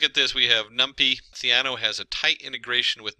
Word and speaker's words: Theano: And it is Theano. There's a lot of pronunciations, Theano and different things.